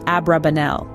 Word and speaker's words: Abrabanel: the rabbis of God favoring the pronunciation abrabanel in his early years